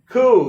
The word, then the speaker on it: coup: Coup. Yeah, this one often confuses students. They don't realize that they shouldn't pronounce the P. They might say like coop, like a pigeon coop or something.